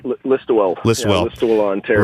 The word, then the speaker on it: Listowel: How do I say it right? That's it, Listowel.